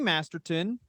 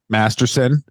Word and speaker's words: Masterson: mouth yeah really all right munes okay Danny masterton Masterson Masterson yeah sorry I got a rapist name wrong thank you that's very important sorry about